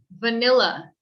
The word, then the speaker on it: vanilla: box here pronunciation so vanilla vanilla it's more of an uh sound vanilla uh vanilla vanilla i wouldn't say vanilla vanilla vanilla with an e sound e sounds this would